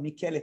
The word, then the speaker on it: Michele: que eu adoro chamado Mikele taruffo Cuidado que o nome dele não é Michele o nome dele é Miguel em italiano Michele taruffo se escreve Michele mas é Michele em que ele num livro